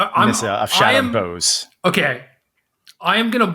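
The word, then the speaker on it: Boughs: So, Shadowed Bows? Bows? Or Shattered... I think it's like Bows, like deck the halls with balls of holly, right?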